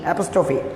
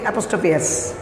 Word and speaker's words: APOSTROPHE: এটা বানানটা হচ্ছে APOSTROPHE, অ্যাপোস্ট্রফি। আমরা অনেক সময় বলি অ্যাপোস্ট্রফিএস, অ্যাপোস্ট্রফিস, এরকম ধরনের কিছু মিসপ্রোনাউন্সিয়েশন কিন্তু শোনা যায় আমাদের মধ্যে, কিন্তু এটা ভুল। এটা অ্যাপোস্ট্রফি এস বলার কোনো যুক্তি নাই, এটাকে আমরা অ্যাপোস্ট্রফি বলবো।